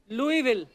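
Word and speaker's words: Louisville: आगे तभी बढ़ेंगे लुईस जब लिखा है तो स क्यों नहीं बोल रहे हैं जैसे नाइफ में क साइलेंट होता है के साइलेंट होता है वो तो के पहले आता है ये तो बीच में घुसा हुआ है बट कई बार लुईस प्रोनाउंस होता है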